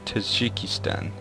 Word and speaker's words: Tajikistan: Is it Tajikistan? Or is that... It's Tajikistan. I'm probably slaughtering the pronunciation of these.